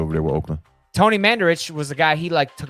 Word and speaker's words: Mandarich: Todd Maranovich. Oh. You're not pronouncing that name right.